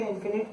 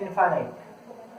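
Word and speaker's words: infinite: कुछ लोग इसे इन्फिनिट भी कहते हैं, जो इसकी एक्चुअल प्रोनाउंसिएशन है वो होती है इनफाइनाइट।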